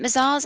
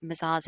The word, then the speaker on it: Mazars: So we're founded in Europe, so we are a French firm, and actually Mazars is pronounced without the S. That's a little silent tip.